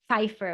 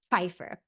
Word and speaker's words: Pfeiffer: No, nothing is silent in German. My husband thinks English is so crazy because all of these silent letters that we have. In German, Pfeiffer would be like that, Pfeiffer. You kind of put that P and the F together, Pfeiffer.